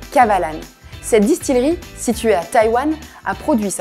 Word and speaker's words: Kavalan: Just three little syllables: Kavalan.